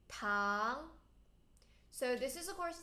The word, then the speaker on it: 糖: and then sugar 糖 not tan 糖 second tone 糖.